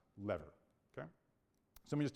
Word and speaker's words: LVR: okay something known as loss versus rebalancing or lvr which most people pronounce as lever okay so let me